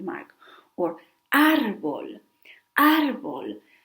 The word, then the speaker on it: árbol: Or árbol. Árbol. It has the mark on top of the A, so we stress that vowel.